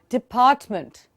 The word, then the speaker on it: department: And please try and notice how I'm pronouncing the word. I'm not saying department. He is working with the finance department. मैं meant तो कह ही नहीं रही हूँ, मैं month कह रही हूँ, फिर मैं t नहीं